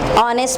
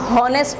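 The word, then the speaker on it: honest: तो यानी कि तमाम ग्रुप ऑफ वर्ड्स में इसमें GH साइलेंट है। ऑनेस्ट में, ऑनेस्ट में अब इसको हम हॉनेस्ट नहीं पढ़ते, हॉनर नहीं पढ़ते, ठीक है, इसको हम क्या पढ़ते हैं, ऑनेस्ट।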